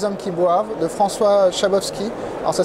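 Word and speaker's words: Szabowski: n'aiment pas les hommes qui boivent de François shabowski alors ça s'écrit zabovski SZ ça se prononce shabovski voilà vous dites à votre libard ne vous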